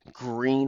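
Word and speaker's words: Gruene: It was Green Harley, but it's spelled Grune.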